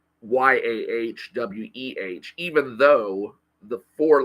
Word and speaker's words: Yahweh: for God in the Old Testament is Yahweh and that's pronounced y a we even though the four